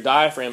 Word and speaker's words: diaphragm: Diaphragm is spelled like diaphragm. It looks like diaphragm.